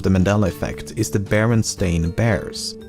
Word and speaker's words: Berenstain: Thirdly, the son of the creators has said that barely anyone pronounced it correctly when he was growing up, and he was most frequently called Berenstein or Bernstein.